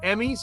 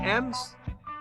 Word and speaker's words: EMES: Was it Emmys? Is that how you say it? M's? I think it's MS. MS, yeah, all right. Yeah, there you go. He told us.